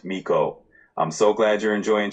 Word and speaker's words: Mico: And do I pronounce your name Mo? You got it. It's pronounced Mo.